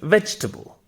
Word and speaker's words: vegetable: however that's completely wrong the actual pronunciation is veg and tibble so it's vegetable it is not even